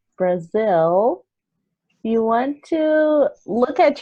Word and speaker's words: Brazil: So I know this one is common because it has a final L sound, right? Yeah. So this is really difficult for Brazilians to pronounce. So if you want to practice the correct pronunciation, Brazil, you want to look